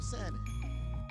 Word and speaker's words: salmon: need you want some salmon I know y'all ghetto ones y'all think that it's called salmon you you don't know that the L is silent cuz you ain't never